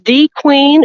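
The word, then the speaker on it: De Queen: DeQueen. So DeQueen, is that the official pronunciation? It is DeQueen, and it is where the Queen has lived for the past 15 years.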